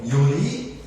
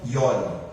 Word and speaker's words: Yori: Alguns pronunciam Iori e outros pronunciam Iori. Eu acho que as duas pronúncias estão corretas. Por quê? Porque esse termo vem da língua abaenga, uma língua morta, uma língua ancestral, uma língua que provém do alfabeto adâmico. Então, não existe uma certeza absoluta da forma de se pronunciar.